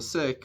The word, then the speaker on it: Sikh: I myself, I'm a member of the Sikh faith, or Sikh faith as we pronounce it, but I have